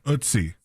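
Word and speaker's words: Ötzi: So, uh, for ootsie ootsie. So, the ootsie, it says rhymes with bootsy or footsie, which is two different words to me.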